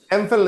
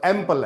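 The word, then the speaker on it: Ampel: एमफल रेफिलाइट article D एमफल एमफल नहीं है वो एम्पल है ठीक करो सर प्रोनाउंसिएशन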